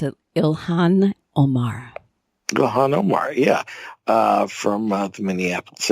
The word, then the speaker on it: Ilhan Omar: Minnesota Democrats have you pronounce her name you pronounce it Ilhan Omar Gahan Omar yeah from Minneapolis area Somali Muslim